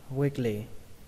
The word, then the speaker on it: weakly: lì các bạn nhé, nhưng mà khi đọc nhanh thì chúng ta có thể đọc là weakly, weakly, weakly. Âm i ở đây nó hơi dài một tí các bạn nhé, weakly. Xuống giọng âm thứ hai, weakly.